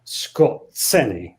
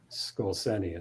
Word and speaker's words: Skorzeny: kuncha uh and because this man fails to pronounce his name correctly he's vain like that it's scott ceni i think scorcene is most people probably most germans pronounced it when not educated um so scott cerny uh anyway eventually he